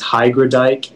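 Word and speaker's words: hygrodeik: all right all right uh your word is hydra dike hybridik yeah can i have all the information yeah so the only pronunciation is hygradike it's a noun and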